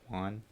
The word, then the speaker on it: Juan: you can't like the the j is very like it sounds like an h in spanish right so names uh